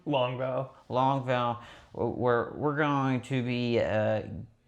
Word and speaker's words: Longval: Longval.